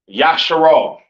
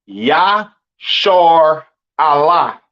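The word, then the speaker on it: ישראל: And Israel is not pronounced Yasharal. It's not pronounced Yisrael in the Hebrew. That is not how you pronounce Israel. Israel is pronounced Yashar Allah.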